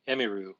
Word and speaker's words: Emiru: most people say, people call me Emmy, but it's Emiru, but I don't mind if people call me Emiru.